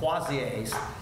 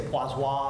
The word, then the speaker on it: Poiseuille: Poiseuille. law. We can say Poiseuille, I guess is another way. Anybody want to work on my French? Poiseuille, maybe?